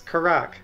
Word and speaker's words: Karak: What's the official pronunciation? It's Karak. Karak.